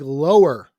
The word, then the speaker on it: Lauer: That's Lauer is. Spelled like lower.